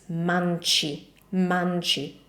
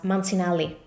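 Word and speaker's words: Mancini: you know it so remember this is not manel it's mani mani so the c is ch the second is the double l l so I can imagine this being pronounced as mansini or something like that instead we have two L's and we need to pronounce both of them how How do we do that?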